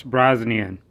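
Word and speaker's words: Brosnan: when I filmed this video I pronounced this name wrong it's Pierce brazan by Pierce brownson now this guy's got a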